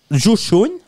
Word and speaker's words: Joe Schoen: Joe Schoen. Si je le prononce bien.